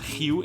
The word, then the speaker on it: Rio: E sim, o nome da cidade é pronunciado "Rio" em português, um pouco parecido com o "Hugh" em "Hugh Jackman".